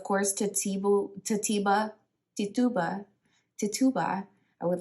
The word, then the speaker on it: Tituba: Islander okay of course to table to Tiba Tituba to Tuba I would like to say I want to make sure I say her name right Tituba was from Barbados so sure Barbados could be